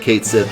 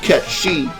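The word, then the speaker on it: Cait Sith: you can go on every video that ever said kate sith and be like you're a loser it actually pronounced cat she then you need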